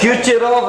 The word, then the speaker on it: Kucherov: चला प्रोनाउंसिएशन क्या होगा? क्यूचेरॉफ रिएक्शन।